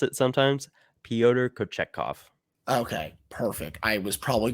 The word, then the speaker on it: Pyotr Kochetkov: I still struggle to pronounce it sometimes. Pyotr Kochetkov.